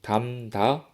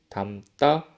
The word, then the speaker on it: 담다: 우리가 적은 대로 입구, 담다, 갈등으로 소리내면 발음하기가 어렵겠죠? 수업 초반에 이 이야기를 했었습니다. 음운 변동이 일어나는 두 가지 이유 중에 하나가 발음의 경제성, 쉽게 발음하기 위해서였습니다. 입구, 담다, 갈등으로 소리내면 발음하기 어렵기 때문에 화면에 보이는 것처럼 입구, 담다, 갈등으로 소리를 내는 것입니다. 첫 음절의 종성의 비읍, 미음, 리을 뒤에 두 번째 음절 조성의 기역, 디귿이 된소리로 발음되는 것입니다.